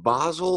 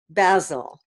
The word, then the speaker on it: basil: them in the garden is it Basel or basil basil it's basil as in Bazzle Foley yeah trying to think